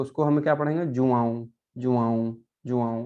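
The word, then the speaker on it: João: ओ, है ना, तो उसको हमें क्या पढ़ेंगे, जुआऊं, जुआऊं, जुआऊं, है ना।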